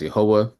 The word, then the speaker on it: Yahweh: So, we pronounce the name of God in our Bible study as Yahweh. Many people pronounce the name of God as Yahweh.